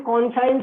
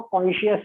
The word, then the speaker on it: conscience: देखिए इसकी spelling कॉन्साइंस जरूर होती है, लेकिन इसका प्रोनाउंसिएशन जो है वो कॉन्शियस होता है।